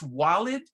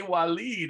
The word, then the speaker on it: Walid: say it naturally because a lady from morocco says it's wallet and i don't say it like that he said no totally different arabic in morocco we say walid i said that's how